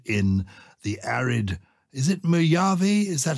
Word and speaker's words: Mojave: Is it Mojave? Is that how you pronounce the name of the desert? Yes, I think so, because it's from Spanish.